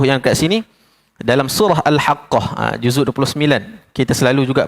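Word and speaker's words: الحاقة: Macam mana cara bacanya? Alhaqqah. Ha tak boleh baca al-haqah. Sabdu tak ada kat situ. Tak boleh. Sabdu kita kena bagi dia tekan sedikit.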